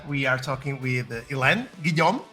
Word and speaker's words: Guillaume: Today, me and Sarah, we are talking with Helene Guillaume. Is that Guillaume? Yes. Perfect. Yes.